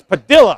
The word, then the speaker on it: Padilla: as ho je padilla my wife is fluent in spanish and she says double-l you pronounced like a Y and I think most people did then padilha finally gets out of jail and he says by the way everybody's been mispronouncing my name it's padilha all right so josé